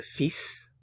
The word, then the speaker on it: fils: Le fils, this one's tricky because the L is not pronounced.